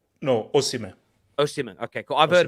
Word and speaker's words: Osimhen: I think is that how you pronounce it, Osimhen? No, Osimhen.